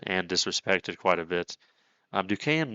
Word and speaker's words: Duquesne: Even though that doesn't look like fucking Duquesne, I had to learn how to pronounce that, whatever.